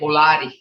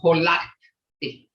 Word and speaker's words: holati: And another word that a lot of people makes a mistake on is holati. They'll say holati. And it's holati.